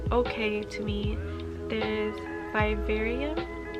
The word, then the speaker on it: Vivarium: to me there is bibarium or vivarium i think that's how you say it it's a psychological horror